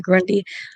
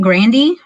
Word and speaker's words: Grande: it reminds me of how everyone says ariana grande's last name wrong because you said grundy it's ariana say it and it isn't it grandy yeah it's not grande yeah it's gravy ariana